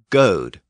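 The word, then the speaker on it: gōd: So when an Anglo-Saxon scribe spelled the word G-O-D, it could be pronounced as either God or Goad.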